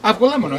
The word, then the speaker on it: avgolemono: Avgolemono, yeah.